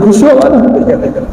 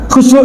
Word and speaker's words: khusyuk: buku ditulis 1000 kalimat khusyuk kita baca gak jadi khusuk ya Akak khusyuk itu rasa yang ada